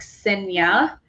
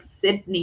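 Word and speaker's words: Cidnya: and so like but the d is silent so it's just like cinna and it's like so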